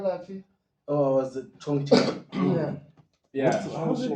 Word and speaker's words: Chongqing: Oh, was it Chongqing? Yeah. Yeah. How's it pronounced? Chongqing.